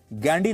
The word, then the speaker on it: Ghandy: अंग्रेजी में वो गांधी नहीं गैंडी लिखते थे, जिसकी स्पेलिंग है GHANDY, गैंडी।